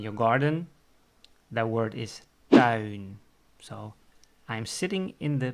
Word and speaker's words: tuin: If you are sitting outside in your backyard or in your garden, that word is tuin.